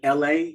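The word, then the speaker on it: Elhae: a song with an artist um named LA and it's spelled e-l-h-a-e and they do it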